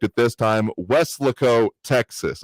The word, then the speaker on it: Weslaco: correct it this time, Weslaco, Texas. I said it wrong in emphasis on the wrong syllable last time here.